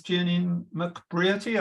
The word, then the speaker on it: Jenean McBrearty: Noir dark deadly or depraved and this is Jenny mcbriety I hope I pronounced your name correctly very very very well